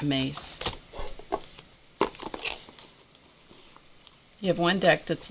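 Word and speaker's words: Myss: cards by carolyn mace her last name is spelled m-y-s-s but it's pronounced mace looks like miss pronounced mace you have one deck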